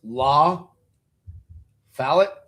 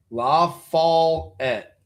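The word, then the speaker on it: LaFollette: Accent on fall.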